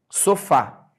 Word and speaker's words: sofá: vamos lá olha só sofá repar que a última sílaba que eu escrevi foi o fa Então essa última sílaba ela é tônica sofá quando a última